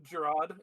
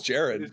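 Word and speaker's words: Gerrard: Oh, Gerard. It's pronounced Gerard. Is it Gerard? I thought I thought it was Jared.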